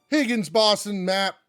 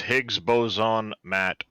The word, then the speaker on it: Higgs Boson Matt: just butchered your name higgins it's higgs boson matt ah higgs boson matt